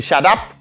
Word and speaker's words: shut up: When you dit shut up.